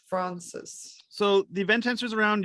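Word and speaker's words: Fraunces: 5th at the um probably pronounced around francis tavern museum also yes francis was that close hopefully it was yeah f-r-a-u-n-c-e-s tavern museum yes francis so the event answers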